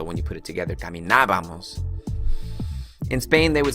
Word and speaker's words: caminábamos: In order for you to put the correct ending, you're gonna need to put that accent mark over this vowel right over here. Ábamos is how you pronounce that ending. So when you put it together, caminábamos.